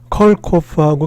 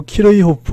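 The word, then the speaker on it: Kirchhoff: 사람들은 어떻게 부르냐 하면은 이게 이제 요거 두 개를 나눠서 불러요. 그래서 이게 컬크잖아요. 컬크. 그죠? 컬크 홉 이렇게 불러요. 그래서 컬커프 이렇게 불러요. 컬코프하고 키르이호프 하면 못 알아듣겠더라고요.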